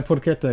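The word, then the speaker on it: porchetta: I got the Porquetta. Is that pronounced right? Is this going to be a Caribbean Caribbean? No. Porqueta is correct.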